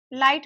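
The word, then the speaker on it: light: लाइट में silent होता है।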